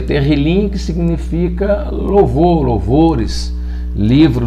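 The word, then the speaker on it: תהילים: aquele aquela palavra hebraica que significa que se pronuncia terrilyn que significa louvor louvores livro do louvor então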